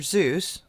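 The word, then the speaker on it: Seuss: fall where they may so why would dr zeus it's pronounced soyuz actually be so angry out of the blue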